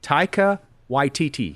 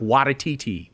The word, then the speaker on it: Taika Waititi: When I listened back on it, I was like, why is there an extra syllable in there, Paul? Like, I know that guy's name is not Watatiti.